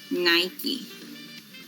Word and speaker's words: Nike: Nike. Nike. But we commonly, people said, Nike, right? We said Nike. But the correct pronunciation would be Nike.